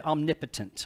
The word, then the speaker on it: omnipotent: We change the pronunciation, we say omnipotent, right?